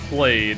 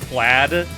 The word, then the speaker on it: plaid: The raid's gone played. I see what you're going for, but it's pronounced plaid.